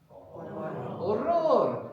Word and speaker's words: horror: H's are silent in Spanish, like I mentioned, like ahora, which is to the hour, the H is silent there. So how would you say horror? Horror. And people say in Spanish, un horror, un horror, terrible.